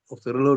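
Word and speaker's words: Reuleaux: It's a French word. You don't pronounce the OUX, it's rouleau triangles.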